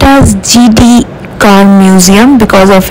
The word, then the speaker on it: Gedee: inside and explore what all are there it's pronounced as gd car museum because of its founder চলুন এই